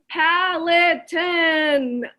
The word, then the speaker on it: Peloton: Peloton? Am I supposed to know what that is? Peloton. That's how it's pronounced.